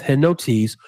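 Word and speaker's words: ἑνότης: and notice and notice that's spelled h-e-n-o-t-e-s s hennots which translated means unanimity or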